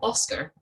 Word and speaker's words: OSCR: scottish charity regulator oscr often pronounced its nickname oscar which is the independent